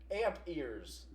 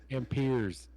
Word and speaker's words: amperes: Amp ears. Amp ears. Nice. Okay. Well, you got it right. What's next? Is that not how you say it? Amp ears? Amperes. Oh, it's amperes, not amp.